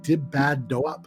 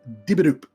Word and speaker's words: Dibidoop: But they, I've been calling them Dib Bad Doop, like an idiot, and that's not at all how it's pronounced. It's Dibidoop, which like that makes so much more sense.